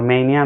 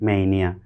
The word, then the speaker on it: mania: देखिए, इसको कब कोई मानिया बोलेगा, स्पेलिंग है MANIA, लेकिन आप इसको ध्यान से अगर पढ़िए, ऑक्सफोर्ड एडवांस लर्नर उसका आप पढ़िएगा, जब प्रोनाउंसिएशन उसका, आर्टिकुलेशन, तो इसको लिखेगा मेनिया। तो ये मेनिया है, नॉट मानिया नहीं है। हम लोग सुविधा के लिए मानिया कह देते हैं, तो आप मेनिया समझिए।